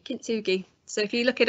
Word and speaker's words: kintsugi: segment and what what I think it's pronounced kintsugi kintsugi so if you look